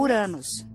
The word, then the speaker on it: Uranus: Eu pronuncio o nome do planeta como Uranus.